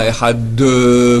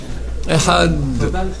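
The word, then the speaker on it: אחד: Shema, Yisraël, Hashem Elokeinu, Hashem Echad, avec un Daled, et pas un Echad, comme j'entends des voix qui on dit comment on parle en hébreu. Echad, Shnaim, Shalosh, d'accord? Echad, non, c'est Echad.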